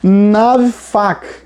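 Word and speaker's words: נָפַח: incrível que pareça a na pronúncia seria nave faca nave faca tá essa palavra soprar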